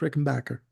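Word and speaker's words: Rickenbacker: Backer if you listen to Tom Petty it's pronounced Rick and Backer Bas now um his bass playing using the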